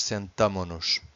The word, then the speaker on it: sentamo-nos: See that this S disappears from the conjugation. This would be too much shush, even for us would be too much shush. So would be nós sentamos-nos would be too much. So the right way to say it's nós sentamo-nos.